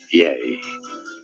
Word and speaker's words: Ye: good thank you correctly pronunciation is that yeah yay well yeah so